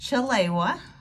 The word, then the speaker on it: Chelewa: just start with that it's actually pronounced chilewa and the origin of my name is swahili and a lot of